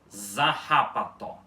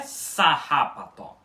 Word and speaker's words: zarrapató: Vocês podem ter percebido que a pronúncia correta dessa palavra em balborano não é sarrapató, com um som de S no início. É zarrapató. Zarrapató. Com um som de Z no início, ok?